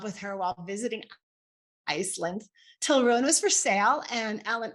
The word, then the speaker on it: Tilraun: Our horse guide today, your horse guide, will be Tilruin. Tilruin is a fierce awakened woman for sure. Her name is spelled Tilraun. Tilraun, and it's pronounced Tilruin, Til for short.